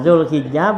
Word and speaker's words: Dzulhijjah: Nah, Dzulhijjah bikasil hak bacanya absah hijjah hijjul baiti ini ya. Absah min fathiha, dari fathahnya tuh haknya hajja ya.